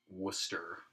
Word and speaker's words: Worcester: You know, so obviously SCG, Worcester is how you say Worcester, it, right?